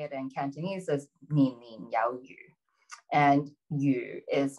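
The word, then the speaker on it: 年年有餘: And then, but when you say the word a little bit differently, so if you pronounce it slightly differently, it's the word fish is yu.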